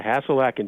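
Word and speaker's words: Hasil Adkins: is it hassel Atkins is that how you pronounce it yeah hassel Atkins you know there are a lot of records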